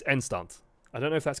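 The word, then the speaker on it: eindstand: In Dutch, you'll pronounce this Endstand. Like, the D will become a T. So, because at the end of words in Dutch, D's turn into T's. So it's Endstand.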